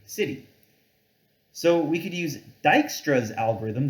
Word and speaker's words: Dijkstra: so we could use dijkstra's algorithm this is pronounced dijkstra to find the shortest